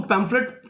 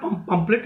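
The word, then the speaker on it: pamphlet: हैं, कुछ लोग उसको पैम्फलेट, they don't pronounce it properly, वो उसको पंपलेट बोलते हैं, अगर आपने सुना हो तो. इट्स नॉट पंपलेट, इट्स पैम्फलेट, okay.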